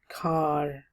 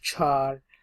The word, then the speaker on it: char: will be using float we will be using car some pronounce it as char okay no problem with it all right so